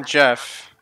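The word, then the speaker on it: Geoff: And one that's spelled Jeff, like G-E-O-F-F. Yes. Still Jeff.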